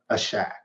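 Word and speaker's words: עשק: I'll spell it. It's ASHAQ, a shack. I'll say that, right?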